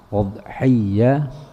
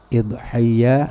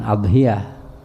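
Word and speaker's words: أضحية: Udhiyah atau udhiyah, idhiyah atau idhiyah, boleh. Antara kasrah hamzah atau dhammah hamzah, udhiyah atau idhiyah. Jangan adhiyah, ya, dalam pengucapan. Pengucapan perlu juga kita rapiin, kita benerin pengucapan. Jangan sampai salah yang terus menerus.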